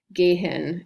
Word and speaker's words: gehen: es quiet via gen technically that h is um silent it's what the h